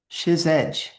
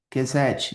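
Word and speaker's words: חסד: Outro termo vital é Chesed, Kesed, depende da pronúncia sefaradita ou askenazi.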